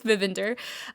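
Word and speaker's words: Vinader: the first time and I got the correct pronunciation so I believe it's vivinder um and it's a really cool art deco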